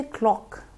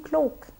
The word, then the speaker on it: o'clock: the words correctly because even if I want to say o'clock but my all sound is not correct and I habit early say oh I end up saying cloak what is the time